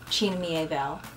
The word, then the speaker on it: China Miéville: His name is spelled like China, but it's not pronounced that way. I think it's China Miéville.